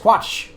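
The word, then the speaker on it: Kvatch: For me when I see K and V together, I don't have that ca like it's just quatch like you don't have to make an extra syllable just for one letter.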